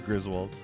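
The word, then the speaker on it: Griswold: It is Griswald.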